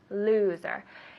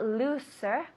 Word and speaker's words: loser: Loser. Now, loser, the S sounds like a Z. Loser. So it's not looser, loser. Loser.